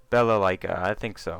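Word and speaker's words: Balalaika: And I'm not I think it's Bella Leica. I think so. I think that's the first time I pronounced her name correctly because I'm actually reading it.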